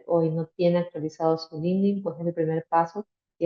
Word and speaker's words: LinkedIn: espacio el tema de linkedin que es nuestra plataforma o linding se pronuncia bien es eh linding es nuestra plataforma profesional en